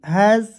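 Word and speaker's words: has: अलग-अलग होता है देखिए एच ए एस क्या पढ़ेंगे हैज पढ़ेंगे ठीक है हैज अब दोस्तों कहिए सर इसका नियम है तो जी हां दोस्तों इसका भी नियम है देखिए एच से होता है ह और यहां पे एस है तो इसका उच्चारण ज के रूप में करेंगे ठीक है यहां प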